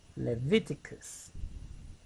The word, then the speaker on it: Leviticus: Levi is the stress here. Leviticus.